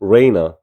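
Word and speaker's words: Reyna: 넣는다 생각하시면 돼요 웨이즈에다가이 친구도 웨이나에서 레이나 알바를 넣어서 레이나 이런 식으로 애를 왜로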